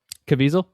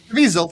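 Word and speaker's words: Caviezel: I would say uh Anthony, how do you pronounce his name? Jim Cavisel. Cavisel.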